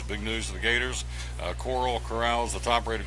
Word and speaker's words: Corral: and so Matt I've heard to pronounce both ways caral and Coral c o r r a l I'm going to say Coral Matt caral the number